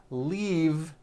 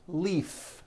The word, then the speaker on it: leave: glove alive and leave this last word leave is very different from the word leaf like from a tree which has an unvoiced f the word is leave with a voiced v keep the voicing going